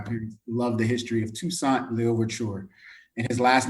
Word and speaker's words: Toussaint: I just I whenever I say it is and make sure I'm pronouncing it correctly. You got it. Toussaint.